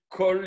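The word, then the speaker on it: כֹּל: Kol, eh bien, le Kol, en fait, ça s'écrit Kal. Puisque la voyelle, c'est un kamatz. Et le kamatz, il peut être soit un petit kamatz, O, soit il doit être un grand kamatz, A.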